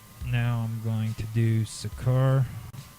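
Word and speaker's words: Seker: good okay so now I'm going to do sakur s or sakur it's spelled s e k e r Capal S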